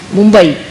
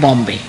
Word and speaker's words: Mumbai: see so that's how they couldn't call call Bombay Mumbai so they called it Bombay see but Mumbai is